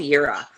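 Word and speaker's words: Jera: It's called Yura. Like year, like we would spell year and then put an RA in it.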